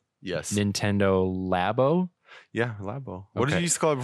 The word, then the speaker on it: Labo: it wrong yes Nintendo lab oh yeah what are you scold for labor I said labo labo is it looks labo like Lobo with a Nintendo lab